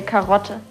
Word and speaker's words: Karotte: That's easy, you say Karotte.